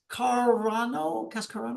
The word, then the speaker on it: Cascarano: Cascarano. That's it. You got it. Yeah. Just uh good good Italian name. So, just just like it's spelled just like it sounds.